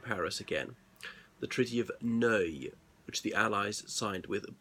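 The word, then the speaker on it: Neuilly: a district of Paris again the Treaty of no which the Allies signed with Bulgaria now know is spelled n e you I double l why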